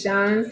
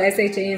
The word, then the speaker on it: Shan: My sister's name is Sean, and it's spelled S-H-A-N, so that's why we pronounce it as Sean instead of Shan.